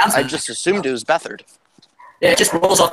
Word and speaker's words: Beathard: But didn't matter because CJ beat hard and the 49ers. Wait, that's how you say his name? No, it's Beathard, but it sounds better.